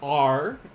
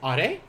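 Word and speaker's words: あれ: This one is also not are, my English speakers. This is are.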